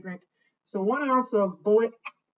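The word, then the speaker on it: Bulleit: so one ounce of bullet how do you pronounce it like the ammunition sun into our shaker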